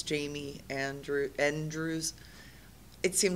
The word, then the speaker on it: Jaime: jme n d r e WS so it's Jamie Andrew Andrews it seemed like a really good